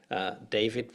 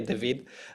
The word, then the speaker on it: David: David would be the English pronunciation, but both David and I speak Portuguese, so I'll just say David.